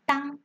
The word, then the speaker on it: 当: 以当南日，这个当要特别注意，可以用红笔把它圈起来，它念成当，有承受